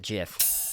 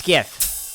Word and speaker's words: GIF: and i ban you for calling it jif how dare you put that in the forum rules you cannot pronounce it jiff you want to be in this community it's gift all right let's